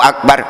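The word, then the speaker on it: أكبر: Allahu Akbar, Allahu Akbar, beda loh. Allahu Akbar dalam kitab tajwid, kitab Jazariyah mengajarkan seperti itu. Ro adalah menyandang harkat fathah, wajib dibaca tebal.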